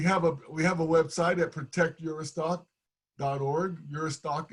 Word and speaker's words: Juristac: Uristac is spelled Juristac, and then go there and then sign our petition and pass our petition on to others.